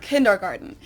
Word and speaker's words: Kindergarten: It's funny, kindergarten, for the most part of my life, I thought it was a garden at the end, but it's a T, it's not a D.